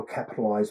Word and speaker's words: Capitaliz: And that's how Capitaliz was born. It's spelled Capitaliz with a Z on the end, but no E.